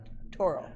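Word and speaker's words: Tarot: i do apologize but torah toro it rhymes with barrel so so yeah i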